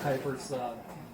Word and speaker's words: Kuipers: Yeah, hi, I'm Kuipers. Rhymes with diapers, so it's easy to remember.